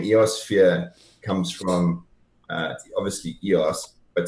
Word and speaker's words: EOSphere: So we have Ross and Ken from EOSphere.